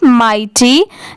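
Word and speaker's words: mighty: जी ई टी गेट एम आई जी एच टी वाई इसे हम क्या पढ़ेंगे माइटी जैसे एम आई जी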